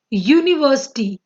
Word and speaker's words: university: Because the pronunciation is university, year, and year is a consonant sound, not the vowel sound.